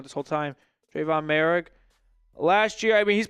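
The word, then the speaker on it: Moehrig: Mor mer Trayvon merri I think it's mer I think I've been saying it wrong this whole time Trayvon merri last year I mean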